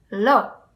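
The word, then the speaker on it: לא: is i'm gonna tell you very similar it's lo different letters in hebrew but pronounced like ello lo and then yes is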